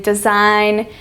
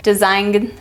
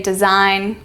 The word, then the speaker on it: design: final GN as in design campaign and align see how the g is silent you don't say design or campaign or align you say design campaign align so when